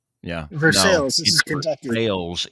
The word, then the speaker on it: Versailles: Versailles, if you're in Kentucky, by God. It ain't Versailles, even though it's spelled the same way.